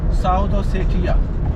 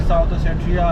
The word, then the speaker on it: South Ossetia: साउथ ओसेठिया या उसको जल्दी साउथ ओठिया भी प्रोनाउंस कर देते हैं।